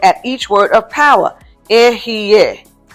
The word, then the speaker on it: Ehyeh: Ehyeh. Is the same as yeah without the Y.